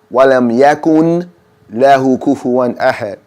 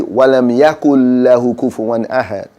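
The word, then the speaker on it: وَلَمْ يَكُن لَّهُ كُفُوًا أَحَدٌ: lam yulad, wa lam, if you say it wrongly, it will be wa lam yakun lahu kufuwan ahad. But we know to say wa lam yakul lahu kufuwan ahad. It's a noon there, but we make it silent because we heard it said so many times, and we know to say it right.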